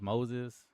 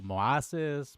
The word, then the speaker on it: Moses: So, my name is Moses and he would say noises. but he didn't really differentiate and then he always mispronounced my name and he would be like moas moas like to my face and then he would